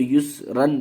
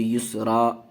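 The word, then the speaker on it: يسرا: ان مع العسر یسرا۔ اگر ہجے کریں گے اس کو تو یسرن پڑھیں گے، لیکن اگر رواں پڑھیں گے تو یسرا پڑھا جائے گا، الف کی ایک زبر الف بن جائے گا۔ فیہا عین جاریہ.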